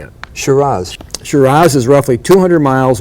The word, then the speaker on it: Shiraz: Shiraz.